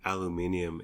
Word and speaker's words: aluminium: said go ahead but don't pronounce it aluminium and I said I'm going to do what I want you're throwing an extra vowel an extra syllable in there but go on it's very British you do you so